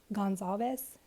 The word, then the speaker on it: Gonzalez: I might screw them up, but I did see Kaylee's dad pronounce it as Gonzalez.